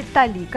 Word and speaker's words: толика: марафон и это только толика того чтобы вам сегодня покажем кстати столика это наше сегодняшнее ударение дня именно так верно ставить ударение в этом слове metallica как многие привыкли